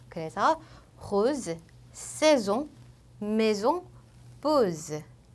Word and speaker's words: saison: 모음과 모음 사이에 S가 껴있는 경우에는 Z로 읽어줘요. 그래서 rose, saison, maison, pose. 요 앞에 S는 S 발음이었지만 중간 모음 사이에 낀 S는 Z 발음이어서 saison 이렇게 되고요.